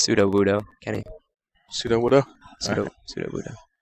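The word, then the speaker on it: Sudowoodo: It's pronounced pseudo Wudo, Kenny.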